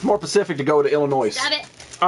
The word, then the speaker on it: Illinois: Illinois, yeah. You don't pronounce the S.